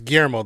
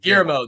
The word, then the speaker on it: Guillermo: Rodriguez g-u-i-l-o erml I I always produce perhaps his first name wrong you know it's Guillermo the L's are silent gear mode that's right that's what it is uh Rodriguez um and